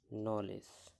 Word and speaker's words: knowledge: বলা আছে যে শব্দের শুরুতে কে এন থাকলে তার উচ্চারণ হবে দন্ত্যের ন। এক্ষেত্রে কে অনুচ্চারিত থাকে কোন সময়? কে এন যদি পাশাপাশি থাকে। কে এন আছে এখানে KNOWLEDGE, এর সঠিক উচ্চারণটা কি হলো? নলেজ। এখানে আমরা যদি একটু মনোযোগ দিয়ে দেখি যে KN থাকাতে কের উচ্চারণ এখানে কিন্তু হচ্ছে না।